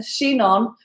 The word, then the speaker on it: Chinon: i n o n shinon pronounced like she and then non um that's that's just